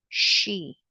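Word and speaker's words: sí: where they're joining the she. Okay. So she refers to where si with this father with this accent on the eye accent mark on the eye.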